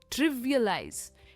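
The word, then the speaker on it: trivialize: आप इसे वर्ब की तरह भी यूज कर सकते हो, तब कहेंगे ट्रिवियलाइज। इसकी जो प्रोनाउंसिएशन एंड में है ना, वो ज में एंड होती है। इट्स ट्रिवियलाइज।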